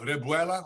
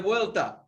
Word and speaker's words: revuelta: Revuela? Or how do you say that again? Revuelta.